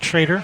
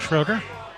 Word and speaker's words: Schroeder: seaman versus rick schrader he pronounces it traitor not schroeder those are the firework